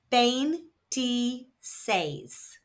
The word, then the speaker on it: veintiséis: And there is an accent on the last e. So the emphasis is where the accent is on the last syllable.